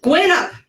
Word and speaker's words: Guinup: I'm pronouncing your last name right, correct? Guinup. Guinup. See, I always Yep. It's always mispronounced. 6 letters, but it's very difficult it's not logical. But that's how it's pronounced.